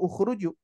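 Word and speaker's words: اخرجوا: Nih Bapak Ibu sekalian, Kira-kira ini dibaca akhruju, ikhruju, atau ukhruju?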